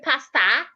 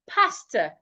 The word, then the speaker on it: pastor: So do not say pasta, say pastor. Pastor. My pastor was not in church today, not church. We'll get to that word. So henceforth, when you're pronouncing words ending in O-R, ensure that your mouth is not opened when pronouncing O and R at the end of a word.